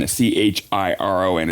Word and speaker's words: Chiron: So in the Greek mythology, the CH is pronounced like a K. So it's CHARON is Charon, CHIRON is Chiron.